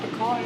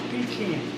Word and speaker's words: pecan: sitting there saying, no, it's not pecan, it's pecan. Well, I got news for you fellers. According to Webster, and according to Cambridge, it's pronounced pecan. There's an origin behind it. However, don't feel too bad. 45% of all Americans are wrong. They say pecan.